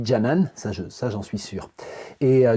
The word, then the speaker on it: Canan: trop mal son nom ça s'écrit cannan mais ça se dit janan ça j'en suis sûr